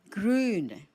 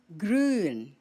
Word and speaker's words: grün: Green, grün, grün. The U is a U umlaut, and you say it long. So, grün.